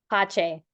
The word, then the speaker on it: Pache: So, is your name pronounced, your last name? Pache. Oh, Pache, so it's French.